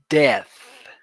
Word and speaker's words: death: hmm Death. Death. You release air in the last part of the pronunciation.